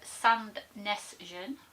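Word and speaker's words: Sandnessjøen: you were so in this episode we'll leave sand Nessun that's how you say it and we're on the scenic route number 17.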